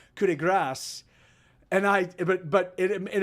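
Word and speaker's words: coup de grâce: it's so it's actually pronounced in french is pronounced coulde grass and i but but in american english we call it kudegra you there are others yeah she's right and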